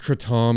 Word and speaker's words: kratom: leaf um but anyway yeah so it is pronounced kratom it's actually very big right now they have